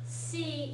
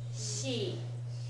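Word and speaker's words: し: bit of an exception it's not C it's she she she she it's a little bit softer than sh in English it's but it's not all the way to se either it's somewhere in between so that's how Japanese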